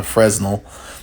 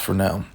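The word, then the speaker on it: Fresnel: and if you were wondering that's called a Fel not a fresnal even though it's spelled that way it's pronounced Fel um just in case you didn't know we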